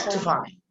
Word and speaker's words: electrifying: The short E, that is unstressed. And it's almost silence. It's almost silent. Actually, you don't have to pronounce it in a sense. Okay, sir. Electrifying. Listen to me. Electrifying. Electrifying. You see, I'm not pronouncing E sound, in that much.